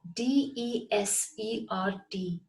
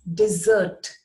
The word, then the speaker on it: desert: the next word is spelt in exactly the same way d-e-s-e-r-t but it is not desert it is pronounced as dessert and the past tense